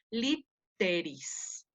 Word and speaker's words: literis: palabra litera o literarum se divide en lit, sería la primera sílaba, te, la segunda, iris. Entonces, esto se pronuncia literis. ¿Sí? No es que la doble T se vaya a la segunda sílaba, va en la primera sílaba una T y en la segunda sílaba otra T.